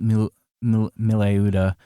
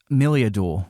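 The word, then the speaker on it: Meliadoul: Like um not Millleuda, who I've been mispronouncing this whole time. Um Millad, Millad, she's introduced, she joins your party and her whole arc is wrapped up in like two scenes.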